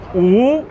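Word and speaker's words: 五: five fingers up in chinese uh five is pronounced ooh it's really fun to say right so i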